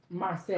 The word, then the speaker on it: Marseille: In French is mercy. Marseille? Mercy. I feel like I'm still butchering this, man. We're gonna have to look up how to say it. I know. Marseille. Oh, he said yes, perfect.